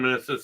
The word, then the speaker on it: meniscus: Meniscus. Yeah. Rhymes with kiss.